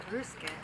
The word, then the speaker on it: Ryusuke: I know I was going to ask Ryusuke how he best to pronounce your name.